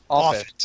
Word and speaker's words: Offutt: How is it pronounced? Offutt. Offutt. Okay. Like Moffat without the M. Exactly.